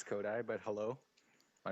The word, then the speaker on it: Coduy: My name is yeah, it's pronounced Kodak? Coduy. Kodak? Yeah, Coduy. Kodak? Coduy. Like, Yeah. you know, Kodak? Like, Kodak. Coduy, Ko- like die, like somebody's dead.